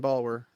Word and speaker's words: Balwer: pronounce it correctly? I don't know. It's Sebastian Balwer.